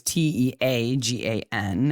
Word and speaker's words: Teagan: We say it's spelt wrong because we have a child named Tegan, who is Teagan, as in like the drink plus Gan.